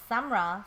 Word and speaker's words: Samra: at all is pronounced sumra so sometimes I say you know it's um like sum the sum of two numbers and um rock what's